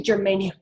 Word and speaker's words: germanium: So pentagermanium, excuse me, germanium. Oh, and I said it right. Geranium is a plant, germanium is the element.